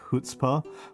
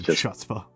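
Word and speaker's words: chutzpah: They say hutzbah or hutzbah or how I apparently mispronounced it which is chutza which is cute. Chutza is the I wonder I wonder where nano is from. Who knows? It's like the Yeah, that's like the Midwestern version of the pronunciation which is an acceptable dialect actually.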